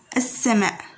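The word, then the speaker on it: السماء: However, we pronounce it like that. Alif followed by seen with a shadda over it. As-sama, as-sama, like that.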